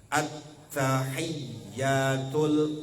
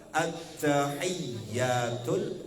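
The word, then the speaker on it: التحيات: Salah satunya adalah jangan ketinggalan tasydid dalam tahiyat. At-tahiyyatul mubarakatus sholawatut thayyibatu lillah. Jangan sampai anak-anak mah dulu lagi belajar kan gini bacanya. At-tahiyyatul mubarakatuh sholawatut thayyibatu lillah. Hilang tasydidnya semua Bu.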